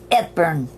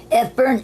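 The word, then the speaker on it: Epergne: Okay, and our word of the week is called Ephern. Ephern is spelled E-P-E-R-G-N-E.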